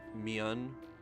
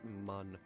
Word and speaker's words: Mun: It's pronounced man. No, it's pronounced mun.